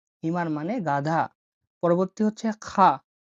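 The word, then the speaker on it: خاء: পরবর্তী হচ্ছে খা। খা বা খ, এটা গলা দিয়ে বের করতে হবে।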